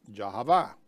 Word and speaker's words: Yahweh: In many lectures, we pronounce the name of Elohim as Yahweh.